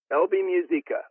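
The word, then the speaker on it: Elvy Musikka: I know Elby Music, her name is spelled Elvy for your listeners. Last name Musikka, Elby Musica.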